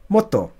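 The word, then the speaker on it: もっと: So it's pronounced mo, sorry, mo, to, motto, motto.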